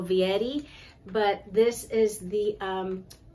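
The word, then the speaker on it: Fieri: Fetti and then it's it's an F even though it's spelled f i e r i the f is um like a V and then Eddie so Vietti but this is the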